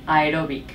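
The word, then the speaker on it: aeróbic: pesas vale también con noto que pronuncias aerobic no aerobic Sí en inglés decimos aerobic s pero en español aerobic ae ae porque pronuncias las dos vocales porque hay dos vocales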